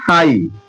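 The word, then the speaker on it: high: हाई। हाई। जी एच का पता ही नहीं।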